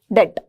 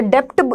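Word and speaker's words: debt: तो डेप्ट नहीं बोलना है पहली बात। तो हम जनरली अगर हम कॉमर्स लैंग्वेज में देखें तो यहाँ पर इसे डेप्ट, डेप्ट बोला जाता है, ठीक है। लेकिन जनरली हम इसे डेट बोलते हैं।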